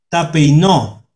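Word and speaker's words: ταπεινόω: Y aquí está la pronunciación, hermanos. Tapeinó.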